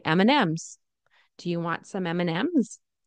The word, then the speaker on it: M&M's: mnm's M&M's M&M's right we don't say m and M's do you want some M and M's that's too that's a little too formal and a little to pronounced I guess um we usually say M&M's do you want some